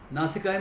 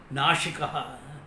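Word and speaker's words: नासिका: Supposing like I've seen some people pronouncing it as nashika whole meaning changes. Nasika means one with a beautiful nose. Nashika means one who destroys.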